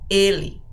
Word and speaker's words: ele: you say or Ella listen to the pronunciation of Ellie Ellie it's a closed e era it's an open